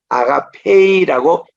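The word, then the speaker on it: ἀγάπη: 그리고 에타 지금은 아가페 그냥 아가페가 아니고 우리는 아가페이라고 애가 긴 발음으로 나오잖아요 그리고 레마 뭐 로고스하고 우리께서는 그냥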